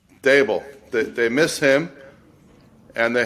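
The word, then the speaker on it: Daboll: How do you pronounce his name? Dable.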